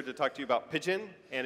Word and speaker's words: Pyjion: we're here to talk to you about Pyjion, and it is pronounced like the bird, not Pyjion, Pyjion.